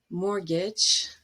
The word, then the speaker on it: mortgage: Christmas, mortgage, and chestnut. In pronunciation or phonetics, phonology, we have a concept